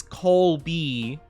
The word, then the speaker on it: Colby: I pronounce it like Kobe. Like I just say Kobe basically like just for short. Um but it's Colby. I just don't usually pronounce the cheese like that with the L.